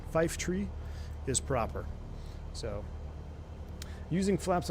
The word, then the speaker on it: Fife Tree: Are you team Fife Tree or team 5-3? I'm Brazilian, so obviously Fife. Well, Fife Tree is the proper pronunciation. Fife Tree is proper.